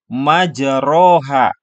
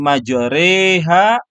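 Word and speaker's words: مجراها: Nah, ditulisnya di sini majroha. Tapi karena di sini harus dibaca imalah, maka condong ya dari harokat patah ke harokat kasrah. Maka dibacanya bismillahi majreha wa mursaha.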